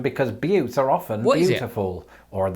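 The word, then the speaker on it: butte: you can't do so easily with this yes b u tte now before I go any further it's probably important in the interest of not being demonetized that I point out that this word is pronounced but and it's probably quite an appropriate pronunciation because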